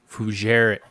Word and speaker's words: Fougere: It is Fougere. Fougere? God dang it! I said it wrong, didn't I? Did I say it right? All right, good. All right, perfect. I try to pronounce the G.